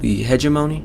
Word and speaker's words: hegemony: pronounce this word still hedge emoni there's no D in it so the hegemony of